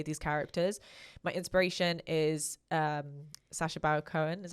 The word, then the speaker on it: Sacha Baron Cohen: My inspiration is Sacha Baron Cohen, is how you say his name, where he does like Borat style.